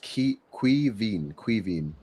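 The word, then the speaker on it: Caoimhín: His name is pronounced Quivin.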